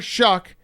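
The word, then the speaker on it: Shough: Yeah, and then you're a scout and you didn't know that it's Tyler Shuck.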